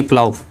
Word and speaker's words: plough: उसमें लिखा है कि AU यानी AU या OU यानी AU या OU के बाद आने वाले GH का भी प्रोनाउंसिएशन नहीं होता। जैसे स्पेलिंग है BOUGH यानी बाव, PLOUGH यानी प्लाव, इसे प्लाव पढ़ते हैं, प्लाव पढ़ा जाता है।